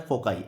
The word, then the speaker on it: foci: फोकस, फोकस का हो जाएगा फोकाई, इसका प्रोनाउंसिएशन होता है फोकाई, FOCI, इसका प्रोनाउंसिएशन होगा फोकाई।